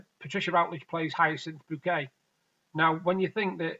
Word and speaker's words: Bucket: name's Richard bucket but she won't having pronounced like even though it's but be you see ket its bouquet she's one of those